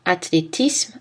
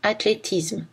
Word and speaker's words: athlétisme: Les mots en isme peuvent être prononcés isme ou isme. Athlétisme, athlétisme. Snobisme, snobisme.